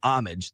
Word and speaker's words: Homage: um a collaboration with Amage, the Amage brand. Uh spelled like Homage, but the H is silent and starter had the collaboration.